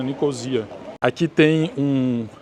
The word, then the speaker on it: Nicosia: vai entrar ali aliás eu falei nicó mas na verdade a maioria das pessoas fala pronuncia né nicosia Aqui tem um e